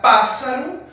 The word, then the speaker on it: pássaro: Na palavra pássaro, a gente não pronuncia dois S's. Pássaro. Pronunciamos apenas um S.